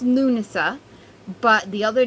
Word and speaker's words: Lughnasadh: one so as i said it's um it's pronounced lunasa but the other name lammus is old english